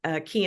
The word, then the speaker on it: Quay: And my mom and I joined forces and started Key Entertainment, which is spelled Quay, like Quay.